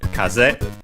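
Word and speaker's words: 風: Then we have kaz should be unacented but I check which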